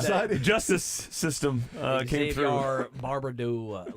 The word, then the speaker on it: Xavier: He's like, it's like caviar. I'm like, oh, okay, Xavier. With Xavier, with a Z. Well, Xavier doesn't sound like caviar. It would be Xavier, right?